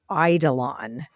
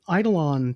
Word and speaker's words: eidolon: would like us to discuss what is an Idol on so where I'm going to spell this for our listeners it's spelled e-i-d-o-l-o-n and I want to know how